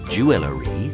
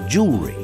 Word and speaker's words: jewelry: jewelry apparently with four syllables that's too many so we only use two of them it's not jewelry it's jewelry there are many more so